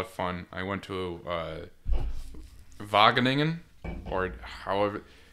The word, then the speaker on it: Wageningen: I went to Wageningen, or however the G's they pronounce in Dutch are a little strange. It's like a kind of thing. So it's like Wageningen.